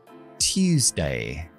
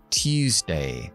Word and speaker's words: Tuesday: Tuesday. Tuesday. Recuerda que tenemos que desactivar la voz cuando pronunciamos la T en inglés.